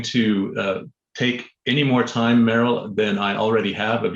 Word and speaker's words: Meryl: Meryl, that's two syllables and rhymes with peril, not pearl.